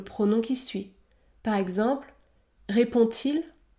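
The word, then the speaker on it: répond-il: qui suit par exemple répond-t-il répond-t-il le D se prononce t répond-t-il ou encore mange-t-elle mange-t-elle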